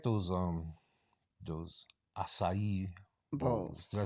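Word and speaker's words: açaí: So I like those acai bowls.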